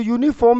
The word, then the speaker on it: uniform: जो ऐसा वर्ड है, अगर आप इसको प्रोनाउंस करते हैं तो ये की साउंड आती है, ये, और ये को आप कभी भी वावल तो काउंट नहीं कर सकते, और एन को यूज़